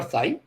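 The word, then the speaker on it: psi: his greek letter name everybody calls it either shy or psy and you can take your pick it doesn't matter which one you call it both of them are wrong or both of them are right and anyway it doesn't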